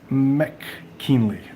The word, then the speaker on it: McKinley: Um McKinley said, "Hi, Mechanley." Okay. Is how you say my name. Excellent. Okay. So, mech keenly, um, hope I got that right and thank you for for correcting me.